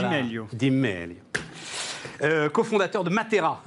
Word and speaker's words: Di Meglio: On doit pas prononcer le G d'ailleurs à mon avis. Absolument, non, on dit Di Meglio.